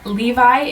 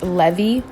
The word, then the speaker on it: Levy: be comparing today their Levi's in the ash blue color with silver hardware after filming this I realized that it should be pronounced Levy not Levi two of the page